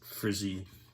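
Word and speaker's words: FRSI: It turns out the inside areas is a little darker than the advanced frizzy, that's how they pronounce the acronym, blankets.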